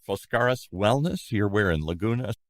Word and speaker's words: Foskaris: Penny owns a place called, Foskaris Wellness.